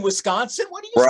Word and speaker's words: Wisconsin: At least you didn't say Wisconsin. That's like one of the biggest clues that someone's not from around here. Put the E at the beginning. We're all like, well, there's no E in Wisconsin.